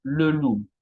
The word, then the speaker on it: loup: Y lettre P muette, tenemos beaucoup, mucho, trop, demasiado, o también tenemos le loup, el lobo, ok.